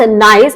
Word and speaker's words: gneiss: gneiss pronounce नाइस. इसको हम कैसे प्रोनाउंस करते हैं? ये है नीज. नाइस. Pronounced nice is the highest grade of regional metamorphic rock.